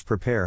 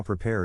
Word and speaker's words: prepare: In this case, the accent is in the second syllable, corresponding to pair. Below are other ways to pronounce it. Now, let's see how prepare is used in real life.